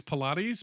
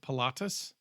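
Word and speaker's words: Pilatus: you have the uh uh I'm going to pronounce this wrong I I want to say it's Pilates but it's not it's patus uh pc21 and the PC 24 um they're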